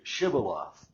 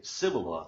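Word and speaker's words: shibboleth: Well, they said, "Well, then say shibiloth." You know, just say this one word, you know, chivaloth. But they would say civil because they couldn't pronounce it correctly.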